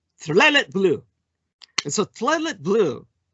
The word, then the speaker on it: tekhelet: You'd think that would spell something like Tiklele, but you have to pronounce it very quickly. You almost slur it and it comes out Tlelet blue.